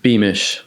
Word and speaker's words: Beamish: Beemish. How do you spell it?